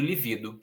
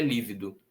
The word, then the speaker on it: lívido: Sem acento eu teria lido livido, com acento eu sei que é lívido.